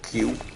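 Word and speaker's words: queue: as bad as the english word q which is really just the q with four silent letters behind it which means that 80 percent of the letters in the word q are silent i think that's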